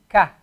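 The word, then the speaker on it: ك: Now notice the difference between Qaf and Kaf. Qa. Ka. Qa. Ka. The difference between Qaf and Kaf is that the Qaf, in order to pronounce the Qaf, you go a little bit further down your throat to get the Qa sound.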